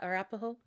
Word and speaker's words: Arapaho: the Tongass Roosevelt, I don't know how to pronounce that one, Arapaho National Arapaho. Forest? Yeah, Arapaho.